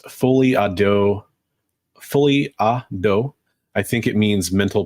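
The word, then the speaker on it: folie à deux: I wanted to go back to Son of Crom's comment because he said for English speakers it's pronounced fully ado.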